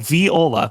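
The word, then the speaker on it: Vidola: It's called Viola, but it's spelled V I D- O- L A which we saw her riding around on on some of the trailers for quite a bit.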